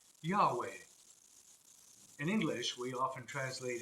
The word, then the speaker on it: Yahweh: It was the name Yahweh. In English, we often translate it as I am who am. However, in Hebrew, the word could be uttered by inhaling the first syllable and exhaling the second, so as to imitate our very breathing.